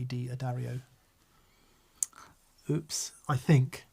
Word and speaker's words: D'Addario: You've pronounced it correctly, D'Addario. I think the people who own the company say D'Addario.